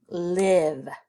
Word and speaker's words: live: Yeah, we hear that V sound at the end, right? But in this word, the I is making the I sound. It's making its short sound.